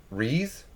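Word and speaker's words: Reze: was getting tricked by reese that's how i'm gonna pronounce r-e-z-e like i feel like reese is a good so it picks up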